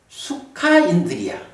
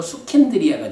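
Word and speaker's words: sukhindriya: 그걸 합해가지고 수카인드리아. 그래서 이제 발음, 수카인드리아인데 이제 붙이면서 수킨드리아가 됐죠.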